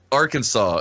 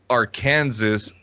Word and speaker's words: Arkansas: states like well here was a good one Arkansas it's strictly prohibited to pronounce our Kansas Arkansas incorrectly what yeah apparently they take great